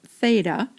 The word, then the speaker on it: theta: Just to point out a notation here, the Greek letter theta, and it's pronounced theta, very often represents an angle measure.